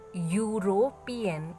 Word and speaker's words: European: So when I pronounce the word European, it is not E sound. It is written is E-U-R-O. Understood? But pronunciation is not European, it is yo sound. So A-E-I-O-U. So U is what it is. It is not a, check once again, you try to pronounce, it is not European, it is European, yo sound.